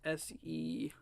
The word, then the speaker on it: Seguin: How do you pronounce this? Seguin.